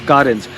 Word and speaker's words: Carens: तो आप देख सकते हो मेरे सामने खड़ी है केयरेंस, अरे क्या नाम है, लोग कंफ्यूज हैं, सो you pronounce it एज कार plus एंस, कार एंस।